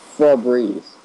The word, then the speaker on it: Febreze: It's Febreze. Yeah, it is, but it's spelled F...